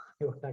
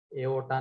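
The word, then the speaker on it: iota: अरे एओटा लिखा तुमने, आयोटा ये होता है, ये स्पेलिंग है उसकी, इसको आयोटा कहते हैं, एओटा नहीं।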